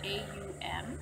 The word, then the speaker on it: Aum: The chakra that we're dealing with now, the 6th one, is Aum, A-U-M, and it's pronounced Aum, so it's pronounced A-H-U-H-M.